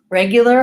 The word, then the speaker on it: regular: let's talk about that regular has our our sounds of course the vowel has Red Tent reg you reg you so in this case we have a and idea do you before my you sound regular and we basically go almost directly from the L to the R in that case so there is the